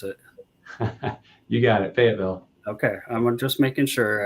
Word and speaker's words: Fayetteville: Love that you're continuing to bring it to some of the students out there in Fayetteville, or not Fayetteville, or how you pronounce it. You got it, Fayetteville.